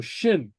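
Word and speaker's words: sin: right okay so now S Plus a slender vowel and remember that's uh I or E uh sounds like an sh so Shin Shin or sh show show okay so yeah so it takes an sh sound okay okay okay okay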